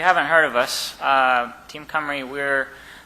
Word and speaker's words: Cymru: heard of us team camry we're the name is covering pronounced comer e stands for it's Welsh for Wales we are a group